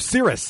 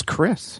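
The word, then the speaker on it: Cyriss: Oh, is that the real pronunciation? That is the correct pronunciation. Ah, I thought it was Chris.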